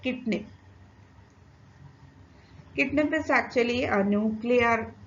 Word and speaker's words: CIDNP: It is usually pronounced as kidney.